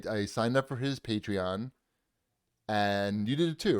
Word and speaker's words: Patreon: He's already started a podcast that is on Patreon is how you say it.